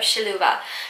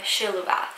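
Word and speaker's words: Šiluva: a lesser-known marian apparition called our lady of shaluva some people call it our lady of siluva and other people call it our lady of sheluva it's very confusing a lot of people pronounce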